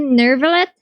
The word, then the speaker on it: Neuvillette: Neuvillette?